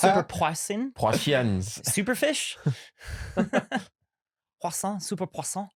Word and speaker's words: poisson: It's actually pronounced superpoisson.